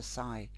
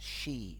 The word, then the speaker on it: Sidhe: direct through direct inspiration from the sigh pronounced she okay so the she okay